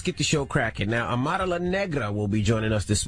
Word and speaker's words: Amara La Negra: Now, Amara La Negra will be joining us this morning. Of course. Amara Negra. What is wrong with y'all? That's not how you say it. Amara La Negra.